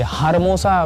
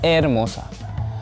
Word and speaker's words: hermosa: और hermosa, ये हारमोसा, बहुत लोग कहेंगे हारमोसा, क्योंकि HER लिखा है। फिर से बताता हूँ कि H साइलेंट होता है जब भी स्पेनिश भाषा में किसी शब्द के आगे वो आता है। तो इसको दूसरे शब्द से शुरू करेंगे, मतलब ई से, तो उसको बोलेंगे एरमोसा।